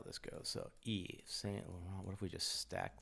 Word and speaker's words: Yves Saint Laurent: So, capital Yves Saint Laurent. Is that the right pronunciation? Yes. Laurent. Yes. Laurent. Yves Saint Laurent.